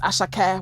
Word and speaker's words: Asake: Asake, he had a concert here in Atlanta and it was really, really fun. But it's pronounced Asake when you go to Asake.